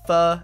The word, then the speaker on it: pho: mostly to get pho, or pho, as I know it's supposed to be pronounced, but it's harder to say pho in a conversation, so pho.